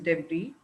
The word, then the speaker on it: debris: work on those pronunciation, like vegetable, then debris, or whatever you said, it is debris, and then vegetable.